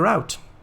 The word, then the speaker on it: route: two we need to extend the route uh or root depending on how you want to pronounce it so i'm going to